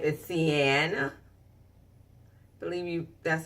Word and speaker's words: Siena: serious glamorous glam collection and her name is Sienna believe me that's how you pronounce the Sienna and she is a full